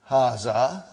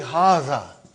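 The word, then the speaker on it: هذا: Haza. See, it is pronounced like Haza. But this alif is not written.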